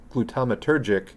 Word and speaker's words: glutamatergic: NAC is a precursor to the antioxidant glutathione modulates glutamatergic I was like, there's an extra syllable in there.